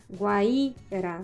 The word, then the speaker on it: Guaíra: Guaíba, guaíra são paroxítonas, porque suas sílabas tônicas são as penúltimas.